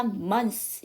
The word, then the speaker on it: months: 그래서 얘 같은 경우에는 S를 살려주고요. TH를 하지 마세요. 그러면 원래는 month 쓰죠. 그런데 이 TH가 무성음이니까 S 발음은 S가 그러니까 S 발음이 나는데 아예 TH를 하지 않으니까 months 이렇게 해주시면 되겠죠. 자, 그 다음에 이건 parents는